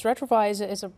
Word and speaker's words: Retrouvaille: Let's, Elena, I want you to mention Retrovi because that's really, really important. Yes, Retrovi is a program that helps couples to heal, to renew their marriage.